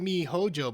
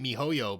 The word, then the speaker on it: miHoYo: biggest fears for me you pronounced it me hojo but i always pronounced it mihoyo because of the why but either way i'm not